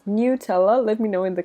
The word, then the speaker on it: Nutella: I am Italian, so I normally pronounce this Nutella. That is the Italian name. But I know that in English you pronounce this as Nutella.